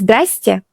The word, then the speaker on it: здрасте: That version is здрасте. Здрасте. Здрасте means exactly the same thing. Hello, but it's shorter and easier to say. So you can choose здравствуйте, more formal. Здрасте, more casual and spoken.